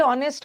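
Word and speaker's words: honest: बट ऑनेस्ट का H silent है ना? ओ से प्रोनंसिएशन करेंगे तो एन ऑनेस्ट लगता है।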